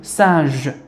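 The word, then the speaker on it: singe: مع او جو سانج اذا جي تقرا ج اذا كان امامها او واذا كان امامها اي واذا كانت امامها ايغريك. اذا هذه هي فقط الاحرف التي ننطق فيها ج وننطقها ج اذا كان او او او.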